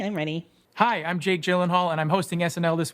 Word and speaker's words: Gyllenhaal: ready hi I'm Jake Gyllenhaal and I'm hosting SNL this week with Camila Cabo Gillan Hall your name is pronounced Gillen Hall I guarantee you it